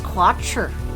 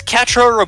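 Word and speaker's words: Quatre: does in Gundam Wing Catra is also the most pacifistic of the uh five Gundam Pilots That's how you pronounce it I thought it was quatra if he is Catra rabarba winner he is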